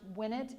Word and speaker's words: Winnett: Okay, so Winnett ACES, it's pronounced Winnett, in it to Winnett, to give you an understanding of how that works.